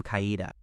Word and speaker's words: Kaede: The other one corrected him, clearly pronouncing the name Kaida.